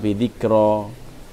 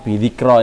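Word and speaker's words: بذكرى: Muhammad Sayyid Muhammad bin Alawi Al-Maliki Al-Hasani dalam buku Haulal Ihtifal Bidhikro aw Bidhik ya Bidhikro Al-Maulidil Nabawi Asy-Syarif ya. Ini memang Bidhikro ini bacanya ini, karena dia muannas.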